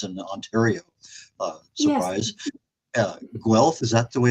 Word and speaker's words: Guelph: Guelph, is that the way it's pronounced?